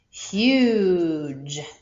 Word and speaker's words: huge: a silent e here there's something that happens when a g is followed by an e this e is going to jump over make the u long but it's going to